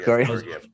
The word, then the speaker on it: Georgiev: I can never pronounce his name. From Georgiev. That's right. Georgiev.